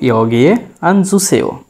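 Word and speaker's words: 여기에 앉으세요: এখানে উচ্চারণ হবে ইয়গিয়ে আনজুসেও, ইয়গিয়ে আনজুসেও।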